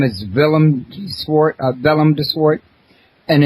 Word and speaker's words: Willem: his name is villart Vellum Dort and it's spelled with a W but it's pronounced like a V now uh Vellum I